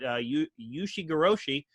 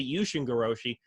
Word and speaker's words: Ushigoroshi: You hear him call it Yushigoroshi, or, he sometimes pronounces it Yushingoroshi.